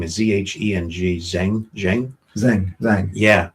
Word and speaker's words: Zheng: to make sure I say his name is Z H E N G Zheng Zheng.